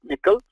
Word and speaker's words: N1QL: important topic what is nickel uh n1ql it's pronounced as nickel um nickel is a query language